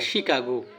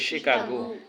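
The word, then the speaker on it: Chicago: এটা কি শিকাগো নাকি শিকাগো শিকাগো এটা হবে শিকাগো উচ্চারণটা কি হবে শিকাগো সিজ এর উচ্চারণ কখনো সি ছ হয় কখনো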